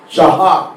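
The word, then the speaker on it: שעה: Shahá, y se refiere a 1 hora.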